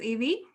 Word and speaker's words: Yive: So my name's Evie. It's pronounced like the Pokemon, and I'm an accredited practicing dietitian.